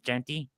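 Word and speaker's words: Jeanty: your choice anybody but jenty ginty gy how do you say his name jenty yeah jenty uh anybody but him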